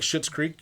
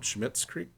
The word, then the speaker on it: Schitt's Creek: But he's got like Schitt's Creek. You ever? Is it called that? Did I say that right? Schmitt's Creek.